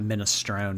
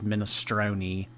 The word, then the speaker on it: minestrone: Oh my god, not minestrone, it's minestrone. Oh my god. Don't give me that like weird Italian pronunciation.